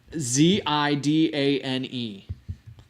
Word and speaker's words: Zidane: Okay, that's not how you spell it. That's how you say it. Zidane.